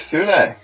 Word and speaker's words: Sune: But mostly I'm here on the behalf of Sune. And people will probably send us comments saying it's pronounced soon or bullshit. I don't care. It's soon now.